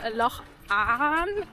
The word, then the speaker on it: Avon: I don't think it's pronounced Avon. I've heard locals say Loch An, something like that.